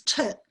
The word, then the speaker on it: toot: And I found others had, afterwards, I decided on tut as in foot, so T-O-O-T, but others had spelt it T-U-T as in put, but also tot.